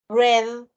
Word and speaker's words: read: Porque tenemos read, presente, red, pasado. Acá se pronuncia como que es el color.